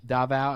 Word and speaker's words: Davao: I'm sorry if I'm pronouncing it wrong, but it's Davao. I'm not sure how to pronounce it. Okay, that is correct.